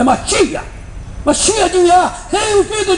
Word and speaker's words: Mashiach: Não é Messias, Mashiach. Eles pronunciam errado. É Mashiach.